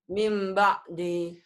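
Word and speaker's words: مِنْ بَعْدِ: Karena nun mati bertemu ba. Apa hukumnya? Iklab. Bagaimana cara bacanya? Menjadi M. Ada M-nya dan harus disertai ada apanya? Ada M-nya, ada apanya lagi? Terus ditahan. Ditahannya, terus ada apanya lagi? Enggak ada kok. Ada sedikit bindeng samar kayak Ifa tadi kan, kamu lupa.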